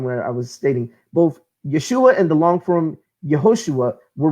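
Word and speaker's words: ישוע: pronunciation his actual Hebraic in Aramaic name is pronounced Yeshua this can be proven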